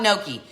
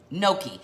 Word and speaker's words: gnocchi: on the pasta aisle okay let's talk about no key first of all let's ask how many of you have actually used or eaten no key no key is felt G n OC CH i it